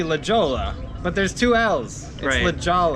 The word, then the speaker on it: Lajolla: but there's two L's Lala it's pronounced just like it's spelled l a j o l l a Lala I don't know why